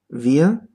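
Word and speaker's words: wir: The R at the end is not pronounced.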